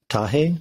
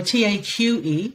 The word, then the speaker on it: Taqe: and in the spirit of Tahe, is that how you pronounce it? Maybe in the spirit of Tage, Tage. Oh, Taqe. Taqe, yeah.